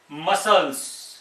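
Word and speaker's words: muscles: एक वर्ड है मसल्स, क्या पढ़ेंगे इसको? मसल्स। अब यहां पे मसल्स, यहां पे सी साइलेंट हो गया है, जबकि ना तो इसके बाद आई है, ना ई है, ना वाई है।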